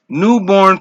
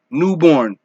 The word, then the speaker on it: Newbourne: Newborn featuring Trainia Lux. Do It Big. Newborn. And it's spelled Newbourne.